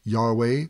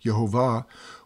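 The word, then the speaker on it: יהוה: With this revelation, each time we now happen across the name Lord or Yod-Heh-Vav-Heh in the scriptures, which is usually pronounced Yahweh or Yehovah, we know who we are remembering and what He did for us.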